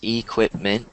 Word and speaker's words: equipment: there so here listen if it goes equipment there's no equipped there's no T sound there so here pronounce